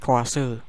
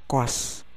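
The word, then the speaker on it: Coase: Koase yang dibuat oleh Ronald Koase atau Koas sih dibacanya sih, Koas aja ya lah, maaf kalau salah, Koas aja.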